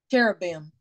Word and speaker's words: Cherubim: on the, how do you say, is it chumbin, chumberman, chumbin? I don't know, but it's an angel. That, say it again. Cherubim. Thank you, Dina. When Angie ain't here, you got to be my word pronouncer, Dina.